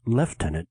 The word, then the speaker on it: lieutenant: Beginning in volume two, the character of Lisa earns the nickname Lieutenant pronounced left tenant in Europe, even though it's spelled the same on both sides of the Atlantic.